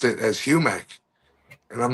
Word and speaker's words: Humec: So the original pronunciation was.